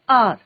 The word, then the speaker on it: hour: क्योंकि कई बार होता है ना बच्चों, जैसे आर है, HOUR होता है, बट हम क्या बोलते हैं? आर। प्रोनाउंसिएशन किसका हो रहा है? साउंड किसका आ रहा है बच्चों?